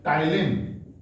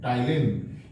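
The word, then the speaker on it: ptyalin: इसके अलावा सलाइवा में एक एंजाइम होता है जिसका नाम होता है टाइलिन, PTYLIN, टाइलिन।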